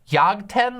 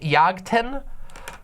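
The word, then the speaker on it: Jagten: this right but yagten yag 10 I think is how it's pronounced uh spelled with a J yagtan um it is a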